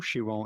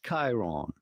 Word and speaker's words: Chiron: simply Chiron do not say Chiron or shiron shiron is a car this is Chiron Chiron Chiron on you